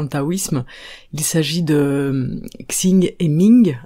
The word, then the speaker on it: Xing: taoïsme il s'agit de sing et Ming alors je vous les prononce à la française je ne parle pas très bien chinois x ING et Ming donc sing c'est